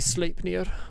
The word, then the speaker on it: Sleipnir: Actually, is it EI? I think it might be. Yeah, so it's actually Sleipnir. Popular culture has completely incorrectly used pronunciation of Norse words. Every time popular culture uses a Norse word with EI in it, it goes with the Germanic pronunciation of I, when in fact Old Norse was pronounced A for an EI.